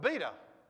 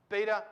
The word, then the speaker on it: beta: a b here right we've got beta right alpha beta beta is exactly the same as the b in english as well so this is nice